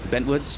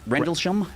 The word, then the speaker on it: Rendlesham: Bentwoods. How do you spell- Rendlesham.